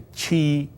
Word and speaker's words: Qi: And here is Chu, Han, Wei, Zhao, Yan, and Qi. The Q is pronounced in the pinyin system as CH. So this is Qi, and this is Qin.